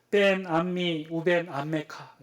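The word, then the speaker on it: בין עמי ובין עמך: 원래 히브리 원어로는 이렇게 돼요. 벤 암미 우벤 암메카. 벤 암미 우벤 암메카. 벤이라는 단어는 이 사이라는 뜻이고 우벤은 그리고예요. 그러니까 벤 암미 우벤 암메카.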